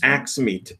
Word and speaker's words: AiXmeet: confirmed 8 times that's how you say it axe meet a I X ma et 101 is well